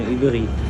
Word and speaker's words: Ivry: Ivry. See this one? It's called Ivry, not Ivry. In French, they pronounce R as R.